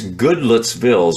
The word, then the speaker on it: Goodlettsville: you when you come you got to pronounce it like the locals do you know in Tennessee it's good let's build is what it is that's what it's built